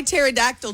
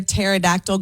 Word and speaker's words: pterodactyl: You know why you can't hear a pterodactyl going to the bathroom? Why, Tricia? Because the P is silent.